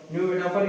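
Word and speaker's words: pneumatophore: इसके बाद दोस्तों न्यूमेटोफर न्यूमेटोफर यानी श्वसन श्वसन करने वाली ठीक है इसका ये है पी यानी पी साइलेंट तो आपने देखा क्या अभी सब चित्र आपको दिखा दे पहले समझ लीजिए राइजोफोरा।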